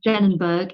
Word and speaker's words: Denenberg: I think I pronounced his first name right. Sagi. Yes. Denenberg is Denenberg, and it's veterinary psychiatry.